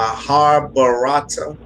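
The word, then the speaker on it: Mahabharata: would tell anyone pick up this movie my har barata am i saying it right yeah you got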